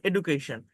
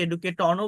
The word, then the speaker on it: education: আমি এখানে এই ওয়ার্ডটা লিখছিলাম, সেটা হচ্ছে EDUCATION, এডুকেশন। এই এডুকেশন, এডুকেশন যে শব্দটা, আমি বাংলায়, আপনি মানে ইংলিশে যে ওয়ার্ডটা দেখা যাচ্ছে, এটা দেখলে আপনি বলবেন যে এটার উচ্চারণ হচ্ছে EDUEDUCATION। এডুকেশন আমরা বলি, অনেকে এডুকেটনও বলতে পারে যেহেতু টি আছে এখানে।